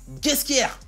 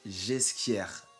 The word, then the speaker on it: Ghesquière: dans mon épisode 4 j'ai dit nicolas ghesquière alors que selon mes sources ouais je me raconte un peu ça se prononce j'ai ce qu'hier désolé pour la bavure